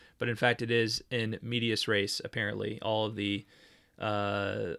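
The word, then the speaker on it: in medias res: thought I was being all smart in my pronunciation by saying in Med aray but in fact it is in medius race apparently all of the uh all of the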